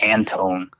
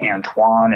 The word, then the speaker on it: Antone: So this dude's name was Antone, which I got shit for my entire life. Like growing up in school, it was like always the teachers, everything was like Antoine and Squindell. They couldn't pronounce anything.